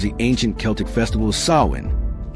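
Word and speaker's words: Samhain: Formerly known as the ancient Celtic festival of Sawin, pronounced so in.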